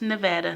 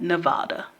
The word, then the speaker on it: Nevada: Las Vegas Strip in Nevada and yes it's pronounced Nevada not Nevada someone from Nevada told me that okay so